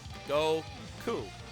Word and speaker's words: Goku: So in Japanese, the number 5 is pronounced go. Number 9 is ku or Q. Pretty easy. Go ku.